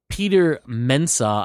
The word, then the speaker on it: Peter Mensah: Peter Mensah, I believe is how you say his name.